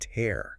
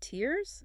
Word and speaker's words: tear: and tear. Similar situation. The noun, the liquid from your eye when crying she cried tears sounds like here.